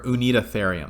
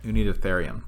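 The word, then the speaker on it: Uintatherium: this creature which is called um unitatherium or unida therium that's how you say it you need ethereum to the right so those who need aetherium it kind of looks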